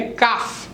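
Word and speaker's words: calf: काफ, नॉट काल्फ बट काफ.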